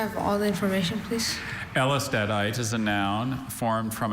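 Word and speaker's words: Ellestadite: Elstadite is a variety of calcium phosphate mineral containing silicon carbon and sulfur replacing some of the phosphorus.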